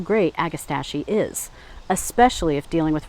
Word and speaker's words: Agastache: This is called Agastache Morello. Now, some places will tell you it's pronounced Agastache. Some places will say Agastache. Meanwhile, I was saying Agastache. So I'm going to go with Agastache Morello.